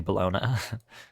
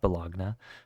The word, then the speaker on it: Bologna: down on Milan and balogna which is actually bologna not balagna um and then that's